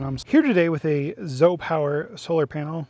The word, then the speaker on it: ZOUPW: Here today with a Zo Power solar panel spelled ZOUP PW, but it's pronounced Z Power.